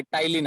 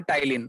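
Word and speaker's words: ptyalin: हाँ, उसे पी को हम प्रोनाउंस नहीं करते, जैसे कि न्यूमोनिया साइकोलॉजी में हम पी को प्रोनाउंस नहीं करते ना, उसी हाँ, प्रकार इसका नाम है टाइलिन।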